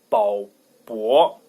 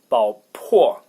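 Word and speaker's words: 宝珀: But I guess the most correct one, the most correct pronunciation, because like the original one in French is 办 with P. So it is 宝珀 is the most correct one.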